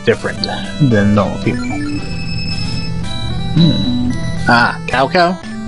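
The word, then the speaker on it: 曹操: Ah, Cow Cow? It's actually pronounced Sao Sao, if I remember right. Because there's different translations where it's CAO, CAO. Others it's TSAO, TSAO.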